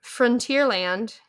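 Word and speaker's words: Frontierland: land Frontier Frontier Frontier yeah like front like the front It's the final frontier front like the front of something Frontier land I don't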